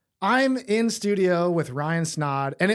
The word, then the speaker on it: Snaadt: I'm in studio with Ryan Snod, and it rhymes with odd.